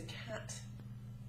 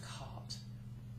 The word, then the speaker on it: cat: Cardiff not ciff and the lovely furry feline creature is always a cat not a cart